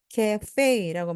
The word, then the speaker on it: cafe: 이때 카페 발음이 조금 달라요. 두 가지 발음이 다 됩니다. 그래서 카페 또는 cafe라고 말씀하시면 됩니다.